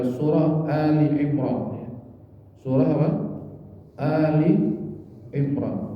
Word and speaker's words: Ali Imran: Ini bacanya jangan salah Pak. Ada yang baca Al Imran, ini bukan ya. Bukan surah Al-Baqarah, Al-Furqan, bukan. Ini alif lam ini bukan dalam ta'rif, tapi al artinya keluarga. Seperti wa ala alihi, kalau